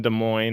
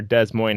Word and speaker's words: Des Moines: is better yes yes the lumberyard ones in Des Moines or Des Moines as if you want to say it wrong